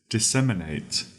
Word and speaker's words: disseminate: Our first word for today is disseminate. That is spelled D-I-S, dis, S-E-M, sem, I-N-A-T-E, innate, disseminate.